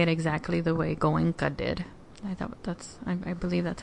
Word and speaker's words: Goenka: So, and I won't say it exactly the way Goenka did. I believe that's how you pronounce his name.